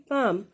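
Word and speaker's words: palm: Okay, so option A banana, sorry banyan, option B पाम। इसमें जो एल है ना, इसको ये साइलेंट होता है, इसको आपने रीड नहीं करना है। ओके, इसको हमने बोलना है पाम, and option C pine.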